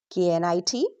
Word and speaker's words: knit: If a word starts with KN, pronounce only N.